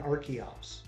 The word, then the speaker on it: Archeops: And so now that makes sense to pronounce the CH as a hard C, and I'm good with that. That's perfect. So I'm going to start trying to say Arkin and Archeops because that makes sense to me.